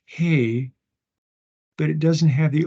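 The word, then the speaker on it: ה: Aleph, Beit, Gimel, Dalet, Hey. And notice there's an open spot in this letter. So it's just like an H sound.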